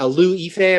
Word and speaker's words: Liu Yifei: I don't know if I'm going to pronounce her name right, but Liu Yifei, I believe is how you pronounce actress who plays Mulan, of course.